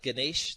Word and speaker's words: Gnys: And if you can remember those guys in Niagara Falls, Guys, just turn that U upside down into an N, and you've got my last name. So when you've got a name like Gnys, you need a really easy phone number now.